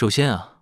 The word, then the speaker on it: 华夏: 起首先啊 Cách phát âm của Huaxia là Huaxia. 华夏的发音是华夏 Thanh điệu là thứ hai cộng thêm thứ tư 声调是第二声加第四声 .